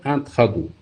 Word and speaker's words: intrados: Donc on ne prononce pas le S à la fin, on ne dit pas extrados et intrados.